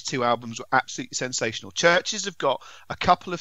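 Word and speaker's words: Chvrches: It is the new album from Churches, which is spelt Churches but with a V instead of a U. Churches.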